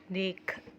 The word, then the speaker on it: دیکھ: ہے، ٹھیک ہے، اللہ دیکھ، ٹھیک ہے، آپ لوگ ایسے ہجے کر سکتے ہیں، دال یہ دے، کاف دو چشمیہ کھے، دیکھ، ٹھیک ہے، یہاں پر ہا کا کمپلیٹ آواز نہیں آتی جیسے کہ میں نے